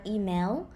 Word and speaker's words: อีเมล: ending so that's why thai people write it according to lolling which is l c l and lolling but we pronounce it with an ending not email but e mail the word chanel see